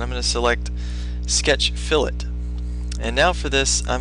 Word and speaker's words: fillet: how to create fill it's not pronounced fillet but fill it we're also going to